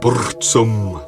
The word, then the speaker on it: Burzum: out let's find out Burzum or as we're supposed to pronounce it bosom is by far the